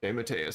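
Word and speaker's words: DeMatteis: wrote craven's last time it's like d matteo de matias de matias there you go um he's writing us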